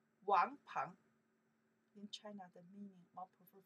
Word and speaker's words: 王鹏: This character 鹏 we pronounce the 鹏 by itself, from 朋友 friends. 朋友 okay, 鹏 that person name. 王鹏In China, the meaning more prefer for boy name. Wang Peng, where sudden name, like not as it's boy.